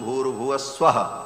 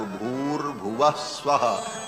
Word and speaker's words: भूर्भुवः स्वः: तीनों को जब एक साथ उच्चारण किया जाता है तो ओम भूर्भुवः स्वः ऐसा हो जाता है। विसर्ग को र हो करके और फिर वो र ऊपर चला जाता है तो भूर्भुवः स्वः ऐसा उच्चारण होता है।